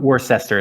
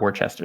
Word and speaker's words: Worcester: number of hard-to-spell cities like the city i used to live in worcester which is not spelled at all like worcester it's spelled no seriously yeah yeah no it's cester it's not worcester some some of them